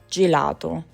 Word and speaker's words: gelato: It sounds like g as in go before a or u gate gate and it sounds like j like gel before e or i. Geneva gelato.